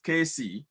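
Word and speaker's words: Caisse: The name of the nurse is Casey, spelled C-A-I-S-S-E.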